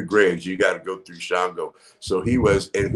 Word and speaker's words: Shango: pick that name and it's shingle the correct pronunciation of it is shango but i thought that sounded too country papashango and so i made a shongo because it just sounded cooler but shango is the uh keeper of the dead i